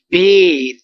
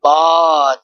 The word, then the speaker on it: ب: The next thing, we must remove the Urdu pronunciation here, like be, te, the. No, we can't read like that. But we must read ba, ta, tha.